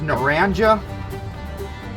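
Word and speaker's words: Naranja: Uh it's Naranga. It's how they pronounce it, but uh that'll confuse the hell out of some Hispanics. It's actually Naranga or let's say it in Naranga. Um, it's orange.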